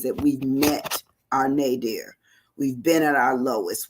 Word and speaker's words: nadir: first looked it up I wanted to spell it n-a-d-e-a-r like my dear because I you know that that was just I had a a friend here that's what we called it was my dear and then I I